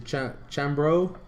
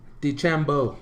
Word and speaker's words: DeChambeau: I know Bryson, I can't think of his last name, but Bryson Chambro, I think is how you say his last name. Where are you at, Bryce? DeChambeau.